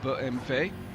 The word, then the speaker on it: BMW: And the BMW, or BMW, as the Germans like to or need to pronounce it.